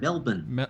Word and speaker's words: Melbourne: Milliborns. It's not so hard. Melbourne.